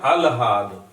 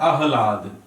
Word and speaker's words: आह्लाद: अलहाद लिखा है, इसे अगर उच्चारण करेंगे तो लगता है सही है, लेकिन है क्या? अलहाद। होता क्या है? आह्लाद। यानी हा जो है वो आधा रहेगा, ला पूरा रहेगा, और द, ठीक है,